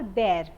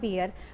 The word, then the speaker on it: bear: So this is bhalu ko we always call bear and not beer. But I have seen many people pronouncing this as beer.